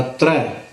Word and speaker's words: त्र: दुलावा रारा करना ल तथा मुक्ता हो जाएगा उच्चारण बनेगा त्र कृपा जाल दे नानक सारंग क होई जाते